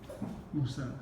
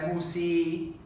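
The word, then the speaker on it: موسى: How do we say that? Musa. Yeah. Musa, right? We don't say Musi, Yes. right? Because it's not a Ya, Yes. it's a Alif al-Maqsura.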